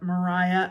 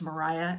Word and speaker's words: Maria: is the story of Mariah Owens or Maria it should be pronounced Mariah at the time that's how that name would be pronounced but I think in the audio book it's Maria um Mariah Owens who is